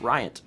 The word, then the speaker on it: Ryant: Also, side note, name is pronounced as one word, Ryant.